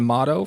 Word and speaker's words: Mottau: Maine Nordiques, number 10 in your program, forward Mottau from Duxbury, Massachusetts.